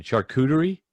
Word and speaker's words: charcuterie: Yeah, that whole, I'm going to butcher the name again, charcuterie?